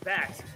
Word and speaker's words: Backs: BA Backs, check that, someone did update us, it's pronounced Backs.